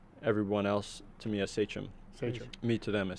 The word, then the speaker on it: Sachem: He said, just think about it. Say them, Sachem.